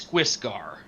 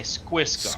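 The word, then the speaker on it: Skwisgaar: a cartoon called Metalocalypse, and it's Squisgar. Squisgar, really? Squiss with a K. Squisgar. Squisgar. You couldn't call yourself Fred or something. Well, yeah, but you have to go Squisgar.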